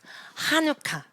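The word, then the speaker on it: חנוכה: 어떻게 발음하죠? 하누카.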